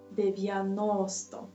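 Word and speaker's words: дев'яносто: In Ukrainian we pronunciate it like 90 and 100. First of all, here 90, we have 4 syllables, and the third one is stressed, 90.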